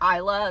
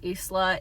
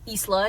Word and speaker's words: Isla: they specifically call her Isla in the audiobook, and also they say that like at one point they specifically say that it's pronounced with an S. So Isla it is.